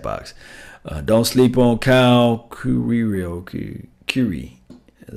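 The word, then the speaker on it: Queiro: Don't sleep on Kyle Curie.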